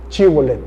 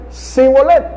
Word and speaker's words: Shibolet: Si él respondía que no, entonces le decían, ahora pues di Shibolet. Y él decía Sibolet, porque no podía pronunciarlo correctamente.